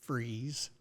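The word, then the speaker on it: Fries: Well, I happened to see this thing that said, and I guess it's pronounced freeze. F R I Essreeze. Freeze.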